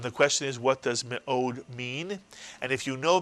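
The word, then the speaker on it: מאד: of a word, and whenever a shva is under the first letter of a word, it is pronounced I, as in the word fish, but it is not a syllable in itself.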